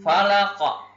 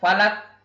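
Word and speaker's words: الفلق: dibaca dengan eh mati Fala kok ya tidak boleh dibaca valak Hai yang tidak boleh dibaca valve tetapi cara membacanya adalah Falak Oh jadi ini huruf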